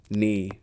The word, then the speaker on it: knee: The silent K. You know the ones knife, knee, nave. They all start with that mysterious K you never pronounce like a ghost letter haunting the word.